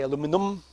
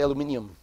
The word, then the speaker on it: aluminium: Like the Americans say aluminum, puis like the Brits say, or the rest of the world, the metric world say aluminium. And here in French we say aluminium.